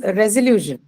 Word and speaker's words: resolution: Then comes resolution. Resolution. the second penultimate syllable, Correct. ma'am. That is on lu, right? Solution. Sorry, resolution. So the second last one, that's lu, is going to take the stress because of the presence of the suffix shin.